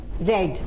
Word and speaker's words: read: तो आई हैड रेड the book, sorry, I हैड रेड the book, यानी हम spelling वो ही रहेगी, प्रोनाउंसिएशन चेंज हो जाएगा। रीड की जगह क्या हो जाएगा?